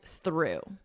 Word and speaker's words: through: The past simple of the verb throw, through, exact same pronunciation, through.